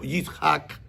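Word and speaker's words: יצחק: Claro, cuando usted lo lee en español, porque hay que transliterar fonéticamente la pronunciación del hebreo, Yitzhak, y lo más parecido fue Isaac.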